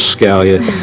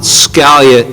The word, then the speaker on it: Scalia: attorney kept saying no Judge Scalia yes Judge Scalia and finally Judge Bourke couldn't stand it any longer. He said, "Council, it's not Scalia, it's Scalia."